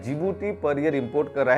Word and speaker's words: Djibouti: जो east Africa में जीभूति उसमें दी साइलेंट राहत है बेसिकली डीसी स्टार्ट होता है लेकिन दी साइलेंट होता है इसलिए उसको जीभूति जो उसका प्रनंसीएशन आता है जीभूति आता है सो जीभूति कहां से